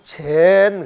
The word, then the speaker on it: 禪: 원래는 이 선이라고 하는 말로, 일본 말로 제니고, 그 스즈키 박사가 저쪽 서양으로 건너가가지고 선을 가르칠 때 이 선을 일본 발음으로 젠 그래가지고 요즘은 이제 젠으로 퍼져 있단 말이에요.